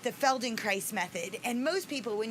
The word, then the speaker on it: Feldenkrais: yes i studied the feldenkrais method and they're like what is that and they think that i'm saying feldenkrais not felt in christ which is spelled f-e-l-d-e-n-k-r-a-i-s